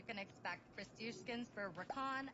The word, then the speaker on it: Rakan: It's like Rakan, like Ra, not Rock Ann.